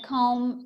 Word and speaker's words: comb: very much thank you the bee in a comb is silent okay yes thank you